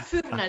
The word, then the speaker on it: Furnas: But Yeah, Furnas.